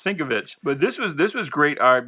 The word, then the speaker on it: Sienkiewicz: I never knew how to pronounce it as a kid. I was like Sienkiewicz. But I believe it's pronounced Sienkiewicz.